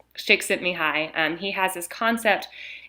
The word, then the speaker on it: Csikszentmihalyi: researcher named Csikszentmihalyi and his name starts with a C it's like CS Isay or something and but that's how you pronounce him shakes at me hi and he has this